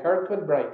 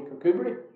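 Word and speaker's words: Kirkcudbright: i asked the man could you tell me where i could find kirkwood bright and he says you mean kokuberi yes my pronunciation may not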